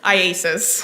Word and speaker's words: IACIS: call it Isis yes how do you say iasis iasis all right I just want to shorten it for today yes all right so iasis tell us about that program that you went through with iasis uh to become a digital France examiner yes